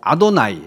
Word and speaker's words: 아도나이: 이름을 부르면 되냐 해가지고 여호와라고 발음을 하지 않고 아도나이, 주님이라고 불렀습니다.